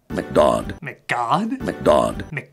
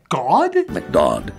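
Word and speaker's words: McDodd: McGod? McGaug? Whatever; you just call him that to rhyme with 'odd'.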